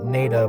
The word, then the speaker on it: Nada: oh the NADA tunnel pronounced NAA by the locals is a historic 900t